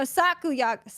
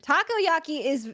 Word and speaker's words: Takoyaki: No, sakuyaki I'm saying it wrong. Sakoyaki? Sakuyaki is different. Takoyaki is octopus balls.